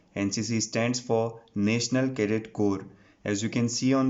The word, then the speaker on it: Corps: is NCC itself NCC stands for National Cadet Corps as you can see on the screen it